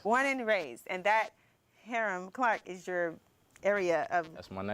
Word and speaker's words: Hiram Clark: Okay, so pronounce it for me. Hiram Clark. Hiram Clark. That's the country way to say it.